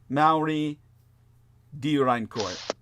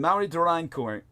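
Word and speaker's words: Amaury de Riencourt: French historian by the name of I would pronounce it Maui dein cour and Mari durine cour uh is not spelled the way it sounds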